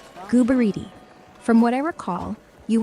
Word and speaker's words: Gooboberti: You're kind of saying Goobo and then Berti. It's really Gooboberti.